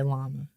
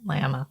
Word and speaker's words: Lama: Dalai Lama. Yeah. Not llama, an animal.